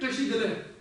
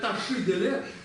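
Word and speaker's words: བཀྲ་ཤིས་བདེ་ལེགས: Поэтому, когда все говорят таши-деле, это неправильно. Это просто, ну, это совершенно другие звуки.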